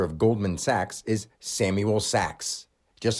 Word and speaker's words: Sachs: And even though it's spelled S-A-C-H-S, that's something actually more meaningful than just the word S-A-C-K-S, Sachs, because the word cash is right there in it.